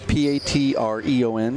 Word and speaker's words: Patreon: So you pronounce the E. Patreon. Right. Patreon. But the E is not silent.